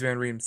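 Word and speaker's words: van Riemsdyk: you pronounce his name oh it's James yeah James Van rheem's like band rooms yeah yeah it's called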